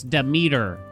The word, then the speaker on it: Demeter: The amount of times people told me to pronounce Demeter correctly in YouTube comments. It's Demeter.